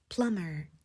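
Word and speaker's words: plumber: 빛 that that 이렇게요 배관공 할 때도 비가 가운데에 들어 있지만 소리가 나지 않아요 그래서 plum plum이라고 해주시면 됩니다 그럼 오늘의 우리가 엄지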